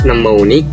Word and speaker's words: mnemonic: And for M is mnemonic. The first M letters is silent.